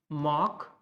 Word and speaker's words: democracy: This is democracy, democracy. So the mock should come out very distinctly, very loudly.